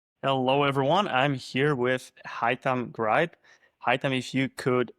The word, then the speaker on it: Haittam: My name is Heam Greb. It's pronounced like saying hi to your thumb.